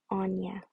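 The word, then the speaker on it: Áine: moment longer oh okay the pronunciation is anya just found it here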